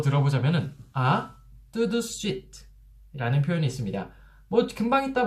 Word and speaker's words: tout de suite: tout de suite. tout de suite. 5음절이나 돼요. tout de suite. 그런데 이거를 tout de suite, tout de suite, tout de suite 이렇게 3음절로 줄여서 발음을 하게 됩니다.